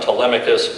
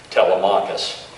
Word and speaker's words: Telemachus: name of Odysseus' son Telemachus, simply repeat the name with the emphasis on the 3rd syllable, Telemachus.